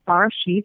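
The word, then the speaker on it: בראשית: But I took the Hebrew version from the Torah, and the first word is pronounced Barashith, and it means beginning.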